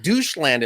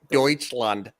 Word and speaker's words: Deutschland: When I first started learning it, the way it's spelled, I called it doucheland in my high school class. I was like, doucheland, and my teacher's like, no, it's Deutschland.